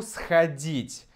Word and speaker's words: сходить: А я хочу сходить. Конечно, здесь мы меняем на «а» все по тому же. Стресс, ударение здесь. Сходить. То же самое. Сходить. Поэтому мы меняем здесь «о» на «а» звук.